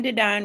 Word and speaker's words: Dedine: My name is Dedine, rhymes with divine.